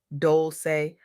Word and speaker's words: Dolce: I'm your host, Dolce. Pronounced Dol-say. Like sweet softness whispered in French.